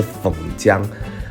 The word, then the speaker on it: phần trăm: 的时候，有人会把它当成姜本姜，其实正确的发音是粉姜。